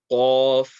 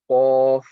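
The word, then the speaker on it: ق: Okay, so the sound is going to come from the back end of the mouth, not the throat. It's not going to be like kha. Okay, it's going to be Qaf, and the way is the back end of the tongue is going to be raised, and that's how you're going to get this sound out.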